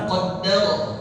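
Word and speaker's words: قدّر: fahada walladzi qaddar fahda qaddaro ya qaddaro dal musyaddadah dal bertasydid jangan diganti pakai ta jadi qaddaro harus qadda qadda qaddaro qaddar Ya, jangan dibaca q dal.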